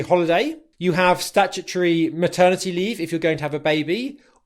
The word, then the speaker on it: statutory: The primary stress is on the first syllable.